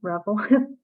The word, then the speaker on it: Revel: let's go with you there are lots of ways to say my name Revel great oh how am I supposed to say rebel it's Ravel but I prefer Revel oh anyway I just